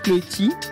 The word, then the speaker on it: Cloetti: est avec nous aujourd'hui cloetti c'est bien comme ça qu'on prononce votre votre nom c'est bien tant mieux vous êtes parents d'élèves